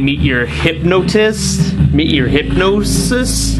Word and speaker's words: Hypnotis: Meet Your Hypnosis? How do you pronounce that? Hypnotis.